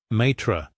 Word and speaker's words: Matra: Matra, she pronounced it carefully. And then joking, she said, "You can call me my tree if that helps you remember."